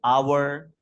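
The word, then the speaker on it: hour: है एच कोसोनेंट है जैसे आवर इसमें एच साइलेंट है इसी तरह यहां ऑनर इसमें भी एच साइलेंट है।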